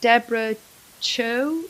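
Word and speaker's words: Deborah Chow: Deborah Cho, is that how you pronounce it?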